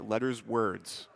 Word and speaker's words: letterswords: Yes, I did indeed confirm with the runner that his name is pronounced letterswords.